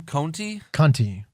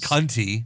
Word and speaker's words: Conti: classic competitor tanara what's-her-name Conti you know it's not Kunti Conti cont I Conti if